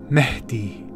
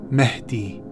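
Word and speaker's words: Mahdi: based on their legend the arabic way to pronounce this is mehdi mehdi so pumwadhib is the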